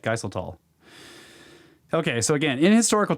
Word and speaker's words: Geiseltal: Okay, Watcher says Geiseltal possibly is how you say this. Thanks, Watcher. That's probably right, Geiseltal.